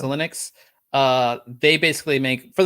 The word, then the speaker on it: Xilinx: so um how do you say it again in xilinx it's linux it's linux uh they basically make